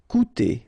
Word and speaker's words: coûter: Okay, keep in mind that even if you've got this accent circonflexe on the top of U, it doesn't change the pronunciation, so it doesn't change this combination of two vowels here, so it will be OU.